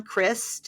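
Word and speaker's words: Crist: C R I S T like Christ but not okay. No H.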